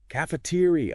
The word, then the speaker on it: cafeteria: Stress on tier. Cafeteria.